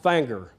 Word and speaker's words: Finger: I know it's spelled finger, but it is pronounced Fanger.